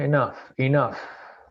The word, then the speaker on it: enough: Dice, the series has run long enough. Generalmente la pronunciación GH solamente, se miden como una F.